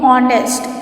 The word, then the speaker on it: honest: So pronunciation how we do honest. We don't do honest. So the pronunciation of honest comes from O sound.